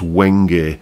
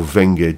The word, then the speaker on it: wenge: The neck on this guitar is a wood called, I think it's pronounced Wenge or Venge, W-E-N-G-E, essentially.